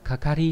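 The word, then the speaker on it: 係: Âm cương của chữ hệ này đọc là kakari hay là kaka trong từ kakawaru, có nghĩa là dính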